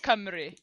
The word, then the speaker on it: Cymru: Uh dodgeball camry. Camry. I would not have picked it. Camry. So basically just switch the two um letters out. It's camry instead of kimu how you write it.